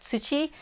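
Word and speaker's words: つち: So you got Hi Chi, or sometimes pronounced tsuchi, and mizu, those are each single characters to express fire, earth, and water.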